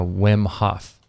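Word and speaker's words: Wim Hof: been I've been listening to lately called uh whm Hoff yeah how do you spell it w w m h f how's that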